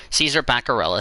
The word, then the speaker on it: Baccarella: Caesar Baccarella, thank you to Orman and to Elijah for helping me pronounce that name.